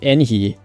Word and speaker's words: Yanfei: Yanfei is actually pronounced Enhi, but but in the Chinese, it's a similar sound like the yen sound. So you could think of it as a Y-E-N instead of a Y-A-N.